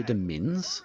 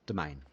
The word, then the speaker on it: demesne: Doesn't it say Demense? Demense? Demesne? No. I googled it and it's pronounced domain.